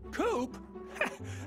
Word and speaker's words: Coop: mister coop you can call me coop coop that rhymes with scoop i think we're gonna